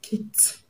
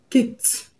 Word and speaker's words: kicked: The ed at the end of kick is going to be pronounced as t because the last sound of the root word kick ends in k sound, which is one of the voiceless consonants that I gave you.